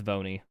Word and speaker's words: V1: looking for no but V1 just spell out one and pronounce it it's vony that's what I'm calling